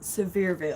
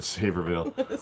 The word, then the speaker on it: Sevierville: it wrong now um sevierville severe right i always hit saverville um the the adventure